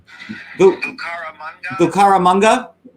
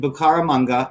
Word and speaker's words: Bucaramanga: Okay, so it's Bucaramanga. So he's right now he's in Bucaramanga, and I'm sorry if I said it the wrong way to all the Bucaramangians out there.